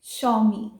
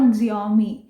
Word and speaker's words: Xiaomi: तो next company है Xiaomi। यस, इट्स नॉट Xiaomi।